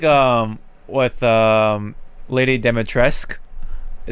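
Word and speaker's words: Dimitrescu: um with um lady demetresque even though it says cu you don't see the cu part it's tresc dimitresque which is interesting i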